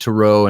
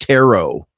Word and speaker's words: tarot: Turo is teru teru I always said to row and I mentioned this before somebody criticized me said I was being highbrow by saying to row because it's pronounced taro and I said well why not call it a row then or toraat why is the tea silent yeah rainy likes to